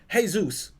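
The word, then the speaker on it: Jesús: tell themselves is that hey Zeus which is how that name is pronounced is a Hispanic name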